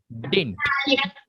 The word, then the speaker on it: didn't: Did not, we have to pronounce this did not as didn't. Didn't. Okay. Did. Never say didn't. Never say didn't. We have to pronounce it as didn't. We have to keep this middle D silent.